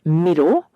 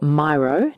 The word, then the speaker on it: Miro: If we are doing our quarterly planning virtually, I use a tool called Miro, or Miro, depending on how you like to pronounce it.